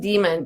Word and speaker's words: daemon: has a monkey, and they're called daemons, pronounced demon, but spelled D-A-E-M-O-N. So the whole worldview of